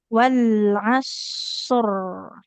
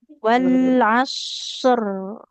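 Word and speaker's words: والعصر: Wal asr. Nah, huruf rnya kan ada mengalir ya suaranya. Heh. Iya. Walas huruf sadnya tebal. Wal asr.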